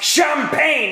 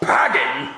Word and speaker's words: champagne: Well, you know it's pronounced champagne and not pagging.